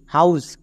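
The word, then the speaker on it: house: এই সাইলেন্ট থাকবে না এখানে এইচ এর উচ্চারণ হবে এইচ এর জন্য ও ইউ ভাল ব্লেন্ডিং ওয়ার্ড এর জন্য আউ তাহলে কি হলো হ প্লাস আউ হাউ এবং এস এর জন্য দন্তস তাহলে একসঙ্গে উচ্চারণ করো এইচ ও ইউ এসই হাউস এবার এখানে অনেকে ভুল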